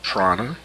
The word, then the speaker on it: prana: of a better word has also been called Prana p-r-a-n-a that's from the Hindu side you study